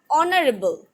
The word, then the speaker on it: honorable: or not for example in honorable h is silent but hair horse do